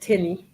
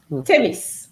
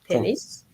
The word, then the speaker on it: tennis: of the students said Tenny last year okay tennis so you need to pronounce the S tenis and then uh can